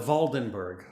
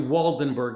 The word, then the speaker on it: Waldenberg: is fascinating eliezer yehuda valdenberg i pronounce it valdenberg if you look it up it's actually waldenberg with a w the reason i say